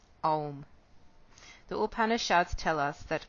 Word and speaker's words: Om: The syllable is composed of 3 sounds, A, U, M, Om.